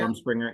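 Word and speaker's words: Rumspringa: fun up there during what is it rum Springer rum am I saying it right rum spr rum Springer yeah they can go wild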